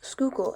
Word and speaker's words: Schuylkill: in the schuylkill river background information schuylkill is pronounced schuylkill and got its name which means hidden river